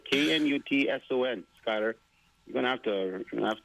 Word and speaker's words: Knutson: K-N-U-T-S-O-N, Skylar. You're going to have to teach people your last name. Knutson, I guess. Yeah. Yeah. She's not nuts. Knutson. Knutson.